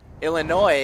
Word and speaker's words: Illinois: rich schaefer in illinois illinois excuse me forgot it that there's a silent s on illinois and joanne and jim